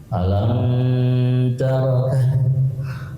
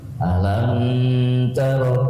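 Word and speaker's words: ألم تر: Alam taroka, alam tarok. Itu salah kalau menurut tajwid mimnya dilamain. Alam taro kan enggak boleh itu harusnya alam taro jangan lama-lama karena jarang diperhatiin.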